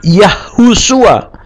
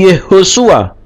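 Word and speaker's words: Yehoshua: keselamatan yehosua atau Yosua tidak yahusua tapi yehosua ya tidak pernah kita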